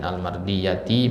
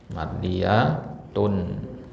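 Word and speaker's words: المرضية: ilaih Ain mudhaof kemudian almardiyati mudofun ilaih Jadi kalau pakai alif lam bacanya almardiya Ya n kalau enggak pakai alif lam Bacanya apa mardiyatun ya Ainun mardiyatun mardiyatu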